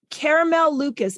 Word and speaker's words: Caramel Lucas: on my podcast today caramel Lucas is that am I pronouncing that correctly perfectly yeah fantastic all right